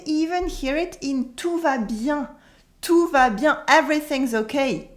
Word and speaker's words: bien: you probably noticed that here the n is silent we don't say it at the end we say and anyway bien can be used as